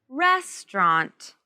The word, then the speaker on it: restaurant: pit in a restaurant res trent restaurant now with these letters t-a-u-r-a-n-t you can just say restaurant restaurants in a restaurant